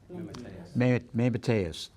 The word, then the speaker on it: Mateus: Mateus.